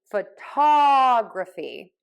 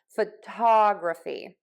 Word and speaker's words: photography: have graffer and graphy we are going to stress the syllable before the suffix so in this case the photography photographer okay so I shift my stress to right before the grapher and graphy so photo photograph photographer photography